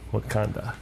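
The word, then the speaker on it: Wauconda: u c o n d a okay so it's spelled a little different just a little different but it is still pretty funny wakanda yeah no it's a nice area I like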